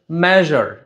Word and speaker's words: measure: আচ্ছা, উচ্চারণটা হচ্ছে মেজার, জ সাউন্ড হবে, নট জা সাউন্ড।